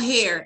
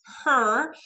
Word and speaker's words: her: في ناس بتنطق دي بتنطقها هير اللي هو شعر. ده الهير. الهير اللي هو الشعر. بس دي بنكون بكلم عن واحده يعني talk to her her.